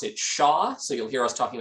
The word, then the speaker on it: SHA: We pronounce it SHA, so you'll hear us talking about SHA a lot this evening.